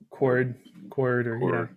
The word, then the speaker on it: kuard: Is it card or KUARD? Does anyone know how that's pronounced? Yeah, Cord.